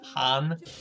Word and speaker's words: Han: is someone going to correct lando that it's pronounced han darth vader can't really sneak up on anybody